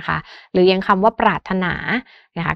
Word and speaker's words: ปรารถนา: หรือ ยัง คำ ว่า ปรารถนา นะ คะ ก็ คือ มี เสียง ร เรือ ก่อน หน้า เสียง ถ ถุง แต่ ว่า ร เรือ นั้น น่ะ ไม่ ออก เสียง นะ คะ หรือ อย่าง